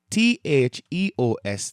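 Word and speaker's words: θεός: So, t h e o s, that's theos.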